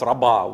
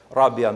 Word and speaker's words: Rabia: Brothers is named after her it's called It's pronounced Raba which is incorrect Rabia means the fourth she was the fourth f